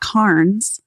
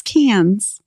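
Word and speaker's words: Cairns: CRA what yeah okay c a i r NS it's not KS it's cans what oh yeah everything I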